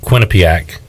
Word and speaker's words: Quinnipiac: When the Pirates lost to Quinnipiac. What's the pronunciation?